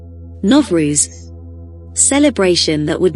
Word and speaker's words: Novruz: Novruz, celebration that would not die. It's official once again after having been prohibited for 70 years under Soviet leadership. Novruz, pronounced Nov-ruz, meaning new day, is